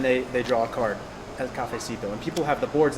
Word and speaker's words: cafecito: Cafecipa. Cafecito. Cafecipo. Cafecito. You pronounce it.